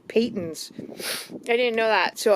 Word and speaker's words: Patons: It's actually not Patons. It's pronounced Patons.